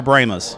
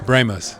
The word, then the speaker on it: Brahmas: new job second question is it brahmas or bramas it's brahmos it's the brahmos you should have corrected